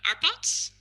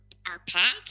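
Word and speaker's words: Árpád: And then Arpad, or Arpad, as I should say. I'm still practicing the Hungarian pronunciation.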